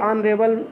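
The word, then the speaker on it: honourable: अगला है ही इज ए ऑनरेबल मैन, ए नहीं रहेगा एन रहेगा, क्योंकि ऑनरेबल में जब साइलेंट है तो हम पढ़ना शुरू करते हैं स्वर से, इसलिए एन लग जाएगा।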